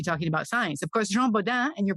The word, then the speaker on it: Jean Bodin: they were busy talking about science of course Jean Boda and your pronunciation was perfect he's principally known as a